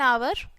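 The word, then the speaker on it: hour: ओ यानी कि किसी वोवेल की साउंड हो रही है तो वोवेल साउंड के साथ में भी हम एन का यूज करेंगे जैसे कि एन आवर ए हाफ ठीक है टच में साइलेंट है अब बात करते हैं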